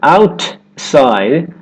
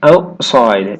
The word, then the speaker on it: outside: For example, the word outside. Instead of outside, outside, outside. The tongue stays up for the T and goes straight into the S sound.